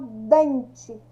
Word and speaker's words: dente: Quando eu falo dente, qual que é a sílaba mais forte? Ó, dente, é o DEM.